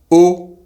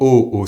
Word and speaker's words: au: The words in French for WATER, UP, and the preposition AT singular and plural are pronounced exactly the same way. So, WATER is EAU, UP is HAUT, and AT is AU, or AUX plural. It’s also the same as the letter, O.